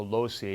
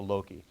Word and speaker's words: loci: And if you're church Latin, you'll call it the loci, and if you're classically trained Latin, you call it the loci, because the hard C is classical and the soft C is church Latin, so that's the difference there.